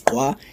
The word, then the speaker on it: Gqwa: Yeah, and you can pronounce Gqwa, it's very easy. You just gotta click it. Gqwa!